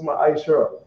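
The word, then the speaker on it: מעשר: verses 8 to 10, means tenth in Hebrew, and is pronounced ma'aishara.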